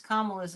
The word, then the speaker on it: Kamala: And for anybody that has a question in their mind of how to pronounce Kamala's name, remember this: calm. Yep. Yep. Kamala. Yep. Will be calm. Well, it's really Pamela with a K is the other thing.